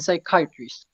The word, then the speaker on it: psychiatrist: with useful pleasures okay in the word psychology physics and physics and psychiatrists you must never sound the bee psychiatrist you call them